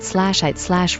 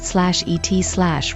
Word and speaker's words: eat: Then I decided he must have pronounced it /ite/ rhyming it with 8. So far so good. Now I wonder if the word might have been pronounced /et/ rhyming with bet, the way some British and rural Americans have it.